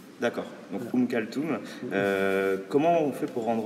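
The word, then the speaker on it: Oum Kalthoum: Ouais, il y a des gens qui disent kalsum mais la plupart disent ou devrai dire je pense um kaltum puisque ça c'est un t en fait. D'accord. Donc um kaltum comment on fait pour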